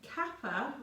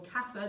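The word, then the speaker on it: kapha: element so if you're very capper or kafir depending on how you pronounce it ka p h a kafir in our beta system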